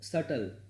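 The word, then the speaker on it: subtle: 136 इज तब सटल, B silent रहता है, याद रखिएगा।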